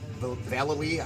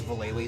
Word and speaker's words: Vallely: the philately barnyard deck Mike Vallely I guess is how you really pronounce his name I always thought it was bull a li but this is his